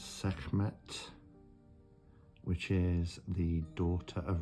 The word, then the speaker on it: Sekhmet: Not quite sure how to pronounce this one. So it's Sekhmet, which is the daughter of Ra.